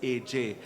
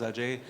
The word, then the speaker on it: Ajay: lot of opportunities but everybody still called my name as AJ it was easier for them to pronounce it that way they pronounced my first name as AJ uh very few if any took the initiative of really pronouncing it as Ajay now the first time